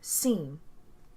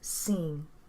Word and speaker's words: sim: for yes in portuguese a simple yes will be seen is spelled s i m but the m becomes very soft when it's at the end of a word so it becomes seen so now let's put